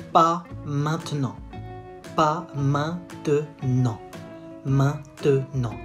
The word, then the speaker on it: maintenant: Pas maintenant. Maintenant. And say it fast. Maintenant. Maintenant. It's a silent E.